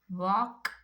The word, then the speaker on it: walk: This all words L is silent. Now next we have palm, walk, chalk, folk, talk, calf, calm, balm, then almond.